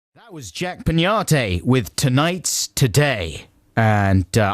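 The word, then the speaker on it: Peñate: tonight's today and uh i believe it's pronounced pinata even though i don't see the squiggly worm on the top of the end here because otherwise it would be pennate right and that doesn't seem right this is adam and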